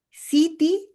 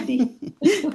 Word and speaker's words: Siddhi: Siti, is that how you say it? Yeah, Say it again. Siddhi, Revelazione.